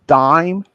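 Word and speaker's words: Daim: an ice cream that's called a dime like not the same as the the coin that you guys have this is spelled d-a-i-m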